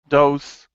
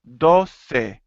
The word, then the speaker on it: doce: For everyone, please notice that all the numbers from 11 to 15 end in e, and we have to pronounce that. It's not once, dos, tres. It's once, doce, trece. We need to hear that e at the end.